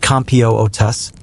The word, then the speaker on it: Computus: They became the resident astrophysicists, the human calculators, the original Computus experts. Computus, pronounced Compios, is the fancy Latin word for the complex calculations needed to determine the date of Easter.